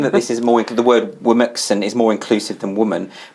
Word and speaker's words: Womxn: Apparently it's meant to be Womixen. Womixen, yes. I don't know if it is. I thought it was Remixen. It doesn't matter. No one can pronounce it.